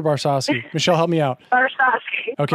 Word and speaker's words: Barsowski: Barsowski. Okay. Barsowski.